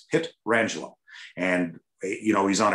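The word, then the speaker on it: Pietrangelo: air and it's like it's alex petrangelo it's not peter angelo or petra angelo it's pit rangeland and you know he's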